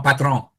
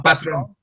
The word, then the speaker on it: patron: more like comme un patron. Comme un patron. Patron. Como patron. Yeah, patron. Patron. Entrepreneur. Yeah. Coffee. You don't have to pronounce the end in full.